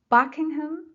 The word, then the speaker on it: Buckingham: Buckingham Fountain. Buckingham Fountain. Buckingham, first syllable.